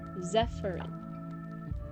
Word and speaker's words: Zephyrin: It rhymes with seafarin. Zephyrin.